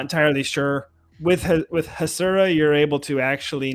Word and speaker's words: Hasura: for the last year it's us hasura with on to z not hazura because it exposes the